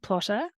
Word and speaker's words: Plottr: Now, if you are any type of plotter, I also recommend you check out the plotting software Plotter. I know, sounds a bit funny, but it's spelled Plottr.